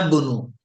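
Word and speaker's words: ابن: अब नून को सीधा मिला दीजिए, इस अलिफ को साइलेंट कर देंगे बीच में आने की वजह से। अना बुनु, अना अना बुनु बुनु अब्बासिन, अना बुनु सिन।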